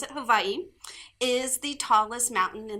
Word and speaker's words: Hawaii: The mountain on the island of Hawaii, that's how you pronounce it, Hawaii, is the tallest mountain in the world.